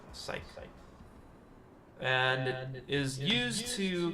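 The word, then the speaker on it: cyc: It is spelled like that. C-Y-C. Psych.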